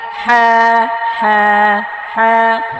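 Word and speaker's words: حاء: حا حا حا গলা চাপিয়ে হলকের মধ্যখান হইতে হ্যাঁ উচ্চারণ করতে হবে।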